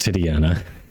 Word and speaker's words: Titania: thorough Shield is a nice element ability it's pronounced titiana you're going back to Cora okay Don's on